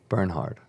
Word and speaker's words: Bernhard: pronounce your last name Bernhard Bern hard burn hard like burn hard like burn hard all right Alex Bernhard how do you pronounce it I've got I got Bernard my whole life Bernard